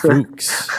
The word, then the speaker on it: Fuchs: Yeah, it's Fuchs. I'm pretty sure it's Fuchs. I'm Fuchs. trying. Yeah, it's Fuchs. Yeah. Okay, so giving zero Fuchs.